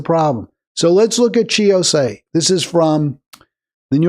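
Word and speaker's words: Chi Ossé: His name is Chi Ose. I believe it's pronounced Chi, C-H-I Ose, O-S-S-E.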